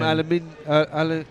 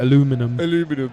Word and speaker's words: aluminium: it's not an hour oh it's made from aluminium aluminium now americans have got another word for it aluminum yeah because aluminium was too complicated for them yeah but yeah because too many syllables i looked into the